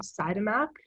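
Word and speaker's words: Siodmak: year 1949 and was directed by robert um cytomac that's how you pronounce it and it follows um this man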